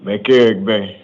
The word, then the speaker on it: McElrathbey: McCarrick Bay.